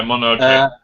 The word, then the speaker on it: Mononoke: How do you pronounce it? Yeah, Mononoke.